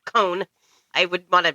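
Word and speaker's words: Cohn: Oh my God, Mark Cohen. Or I'm sorry, Cone.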